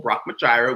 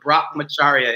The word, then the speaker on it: brahmacharya: to be i had to practice a little brock magira which is sanskrit for moderation i had to